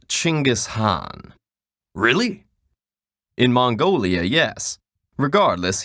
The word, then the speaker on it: Genghis Khan: Khan I see your honor is familiar with Genghis Khan the 13th century warlord whose military campaigns killed millions and left nothing but destruction in their wake objection first of all it's pronounced chingus Han really in Mongolia yes regardless he was one